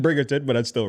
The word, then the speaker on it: Bridgerton: guy who left Biggerton go over there to Edmonton? Bridgerton? Yeah, there we go. Bridgerton.